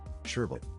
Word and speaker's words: sherbet: to something Bert said there's only one R sherbet who is your first